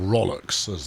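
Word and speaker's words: rowlocks: there should be some row locks on here or ralick saz they are occasionally pronounced and I should have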